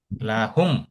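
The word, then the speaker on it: لَهُمْ: আমরা লিহুম বলছি না, আমরা বলছি লাহুম।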